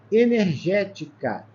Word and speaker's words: energética: Nós temos aqui, ó, a antepenúltima é a sílaba tônica, é ela que é acentuada, tá legal? Ela é uma proparoxítona, por isso que ela recebe o acento.